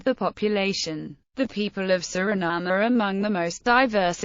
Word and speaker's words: Suriname: in the English pronunciation, Suriname, or Suriname. In Dutch, the official language of Suriname, the pronunciation is Suriname, with the main stress on the third syllable and a schwa terminal vowel.